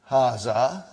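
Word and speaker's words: هذا: Haza. See, it is pronounced like Haza. But this alif is not written.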